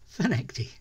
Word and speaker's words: Findochty: it says on the screen but it is pronounced fenecty we're heading off for a one-nighter total change